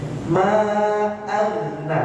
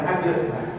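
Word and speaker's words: مَا أَغْنَىٰ: Ma'agna, bukan agna. Ma'agna, bersih saya.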